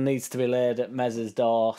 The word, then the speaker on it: Meslier: everybody's thoughts on this meslier silent s incident firstly I think it's silly of MZ uh I don't know